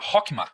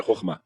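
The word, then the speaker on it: חכמה: A primeira chama, não sei se eu vou pronunciar corretamente, tá? Chama Chokmah. É Chokmah, Chokmah.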